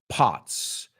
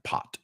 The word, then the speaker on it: pot: Porros, marihuana, pot. P-O-T. Que no se pronuncia pot. No es po. Es pot.